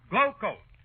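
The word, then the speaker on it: Glo-Coat: is pronounced rodeo and glo hyphen c-o-a-t is pronounced glow coat oh mr wilcox hi harpal what you doing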